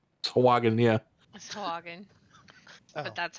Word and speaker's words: Sahuagin: Sahagin? Sahagin, yeah. Sahagin. Oh, But that's how it's spelled.